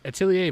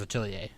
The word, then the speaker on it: Atelier: pronounce it, which was Atelier. What did you say? Because I said Atelier, and now I feel Witch dumb. Hat Tallahassee. All right, here we go. But the R is silent.